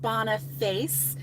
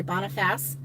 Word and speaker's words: Boniface: is really really good it looks like it's pronounced bonna face but they say Boniface and um that one